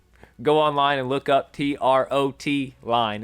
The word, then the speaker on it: trotline: online and look up t-r-o-t line it is a trotline it's a method of fishing if you've called it a trout line in the past let's start calling it a trotline now so you can sound